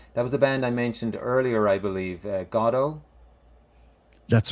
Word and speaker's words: Godot: But it's funny, as I said in my introduction, over here we would say Godot, but That's right. originally it's pronounced Godot, so it's kind of like we should call this one Waiting for Billy's Camera.